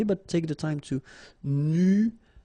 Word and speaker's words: nuageux: This can be quite tricky, but take the time to nuageux. Remember, final X here, not pronounced.